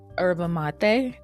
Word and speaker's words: yerba mate: But I do not want to mess this up, but I believe it is said or pronounced as your yerba mate.